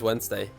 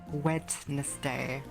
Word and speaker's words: Wednesday: It's Wednesday, my dudes. It's a Wednesday. It's Wednesday, my dudes. It's so annoying that they write it as Wednesday, but you pronounce it as Wednesday.